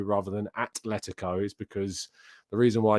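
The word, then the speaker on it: Atlético: which I get so annoyed why people say Athletico rather than Atletico is because the reason why you don't say Athletico Madrid is because it's a not that and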